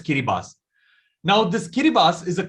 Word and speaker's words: Kiribati: Now it is spelled as Kiribati, but the TI is pronounced as an S. So this particular country is called as Kiribati.